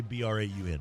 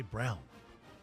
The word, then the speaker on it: Braun: if I'm Braun, how do you say B-R-A-U-N? Braun? Yeah. Yeah, why am I got in my head to say Brown?